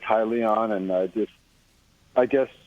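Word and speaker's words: Hyllion: uh this is aries how do you pronounce this i call it highly on okay perfect h-y-l-l-i-o-n yep perfect okay we're going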